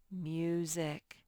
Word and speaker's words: music: This syllable spells zik. Music. That S sort of makes a little Z sound, so don't get confused. You still spell it with an S.